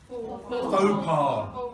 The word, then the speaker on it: faux pas: How do you pronounce it? Faux pas.